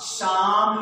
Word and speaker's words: psalm: ये जो पी है ये क्या बेटे है? साइलेंट है। एल क्या है? ये साइलेंट हो गया है। ये पी भी साइलेंट है और एल भी साइलेंट है।